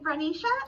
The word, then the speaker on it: Reisha: Is it Reisha? Is that how you say it? You did perfect.